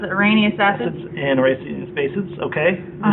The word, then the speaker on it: Arrhenius: Arrhenius acids? Yes, that's how you pronounce it. Arrhenius acids.